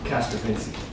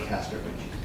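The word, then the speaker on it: Castrovinci: Castrovici. Yeah. Technically, but it's commonly said Castor Vinci.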